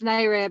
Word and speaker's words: NAREB: That's NAREB.